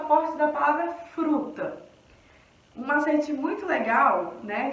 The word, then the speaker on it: fruta: E aí, vocês perceberam que o fru, galera, foi a sílaba que eu falei mais forte. Fruta! Então, o fru aqui, no caso, é a sílaba mais forte da palavra fruta.